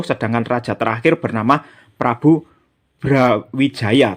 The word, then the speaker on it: Brawijaya: raja terakhir bernama Prabu Brawijaya. Tapi cara bacanya menurut ejaan Mataram itu dibaca Prabu Browijoyo ya, meskipun tulisannya pakai A, tapi dalam ejaan Mataram itu dibaca O.